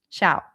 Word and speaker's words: Xiao: Amid the music in front of Chunfangg Xiao Shiao. Pronouncing it like Shiao from Genjin. This is Chunfangg Xiao. Shiao. Xiao.